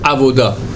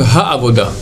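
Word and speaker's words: העבודה: Et là, il y a beaucoup de gens qui se trompent, je sais pas, ils sont un peu rapides dans la prononciation, ils disent Vachev Avoda. Vachev Ha'avoda. L'idvir Beter.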